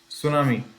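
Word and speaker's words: tsunami: T silent होता है इसमें, है ना? सुनामी, सुनामी एक जापानीज वर्ड है।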